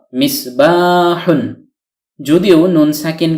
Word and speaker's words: مِصْبَاحٌ: আকার বলতে কিছু নেই হা যোগ দম্মাতুন সমান সমান হু কেননা বাংলায় দম্মাতুন সাধারণত রস উকারের উচ্চারণ দিয়ে থাকে নুন সাকিন হলো অর্থাৎ হলন্ত বা হসন্ত যুক্ত দন্তন্য বর্ণ এই হল মিসবাহুন যদিও নুন সাকিন কে